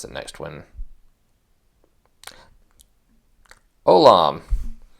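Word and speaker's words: עולם: the next one Olam so there's ion which is silent but you notice there's no vowel down here the V with the dot above that's an O so that whole thing is one vowel So Silent o lamid with a and then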